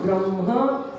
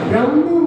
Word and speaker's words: ब्रह्म: सभी लोग एक साथ उच्चारण करेंगे, ब्रह्म बोलना है, ब्रह्मा नहीं बोलना है, ब्रह्म। ब्रह्मा में तो आगे मात्रा हो जाती है, परम ब्रह्म, परमेष्टि के